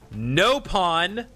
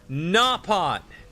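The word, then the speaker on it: Nopon: We're not going to pronounce the species of um that Tatu's in the way the British say it. So, in the other three games, they're not no pawn. They're napon.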